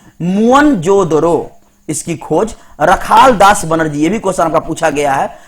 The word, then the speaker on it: मोहनजोदड़ो: मोहनजोदड़ो शब्द का सही उच्चारण है मुअनजोदड़ो।